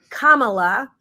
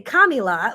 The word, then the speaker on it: Kamala: didn't say it wrong I now know it's Kamala some people want to say kamila what however you want